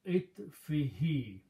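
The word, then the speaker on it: عِطْفِهِ: Now, for the tajweed and pronunciation reason, we also pronounce this dhamma as a kasra. So it becomes itfihi.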